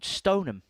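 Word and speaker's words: Stoneham: In fact, just very quickly, Stone Ham on that score graph, there's actually a place around about 100 10 miles up the road called Stonum, which is spelled exactly the same way.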